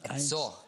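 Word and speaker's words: Edsor: Edzor Kronen. Edzor. 101 Jahre in Berlin. Wieso Edzor? Edzor heißt Edward Windsor.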